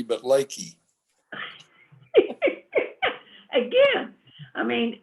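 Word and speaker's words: Leakey: I felt that I understood more of Texas culture when I found out that it's not leaky, but lakey. Again, I mean, it's somewhat crazy how the pronunciation, and that's why there are all these books and things on how to speak Texan.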